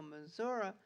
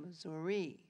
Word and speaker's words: Missouri: called it St Louis being Frenchmen they pronounced words that they heard the French way so Missour became Missouri now I ask you